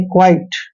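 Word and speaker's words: quite: सफेद होता है जैसे क्या यू आई टी यहां पर देखि क्या य का उच्चारण जब भी क्या के साथ य आता है तो यहां पर इसका उच्चारण बनेगा क्वा वावा ऐसे और आई टी ई को आइट पढ़ेंगे यानी क्वाइट क्वाइट मतलब चुपचाप जैसे एस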